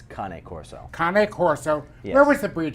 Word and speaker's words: Cane Corso: a kanay core so it's not cane corso it's Connie Corso Connick horse so every